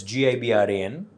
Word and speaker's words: Gibran: name with the j oh okay but it's gibran i was named after the famous oh see i mispronounced that again i said yeah okay um